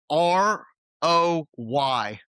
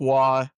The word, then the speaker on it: Roy: The important distinction here being he is French Canadian, hence why it is pronounced nothing like it appears.